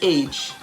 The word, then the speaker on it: age: e words such as age a-g-e breathe b-r-e-a-t-h-e please p-l-e-a-s-e the last e in all of those words age breathe and please is silent how about silent g